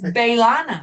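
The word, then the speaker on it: B'Elanna: friendship the same way how she pronounced her name it's balana yeah it's balana bana according to her like French and English where you pronounce the name pronounce in English she probably gave it the Klingon pronunciation clling on I like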